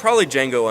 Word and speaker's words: Django: Probably Django Unchained, or the D is silent.